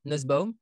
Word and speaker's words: Nusbaum: fait plaisir qu'on soit large et ça se prononce comme ça nussbaum de ce moment je lis nussbaum mais en